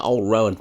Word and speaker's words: Old Rowan: Is it Old Rowan or just Old Roan? No, Old Rowan. Old Roan. Old Rowan is the way I've always known it.